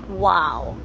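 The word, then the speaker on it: OAO: And O-A-O, which is actually pronounced as wow.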